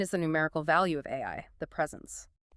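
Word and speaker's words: 愛: It is the stroke count of the Japanese kanji for love, which is pronounced AI.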